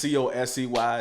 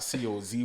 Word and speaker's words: COSEY: At COSEY to go on Instagram. And then, do Rad COSEY on Apple Music. And then COSEY on Apple Music as well. And it's COSEY. It's not COZY or none of that other stuff.